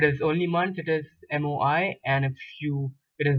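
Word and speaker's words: mois: is if it is only month it is moi and if you it is months you add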